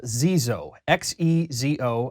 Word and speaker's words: Xezo: Uh this is from a brand called Zo XO. And according to their website, that is in fact how it's pronounced.